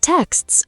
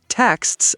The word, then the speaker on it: texts: And they're even harder when they're at the end of a word, like texts or asks. Oh, yes. So many learners drop a sound like saying ask as or texts as text.